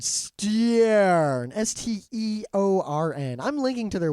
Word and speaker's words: Steorn: All right, so this Irish company called Steorn, Steorn. I'm linking to their website. I think it's like Storm, but Steorn.